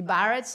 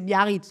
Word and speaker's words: Biarritz: Et comme nous, quand on dit Barrett, on ne comprend pas que c'est Biarritz, quoi.